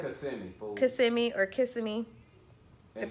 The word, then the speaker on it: Kissimmee: Kissimmee or Kissimmee. And spell it.